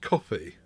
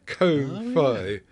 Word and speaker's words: Ko-fi: Buy me a coffee too after you bought Gareth one on Ko-Fi, which I'm assuming that should be pronounced coffee. But it's Ko-Fi.